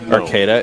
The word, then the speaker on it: Arcata: is not from arcada arcada is that how that's pronounced yes why is it a long a riddle me that guy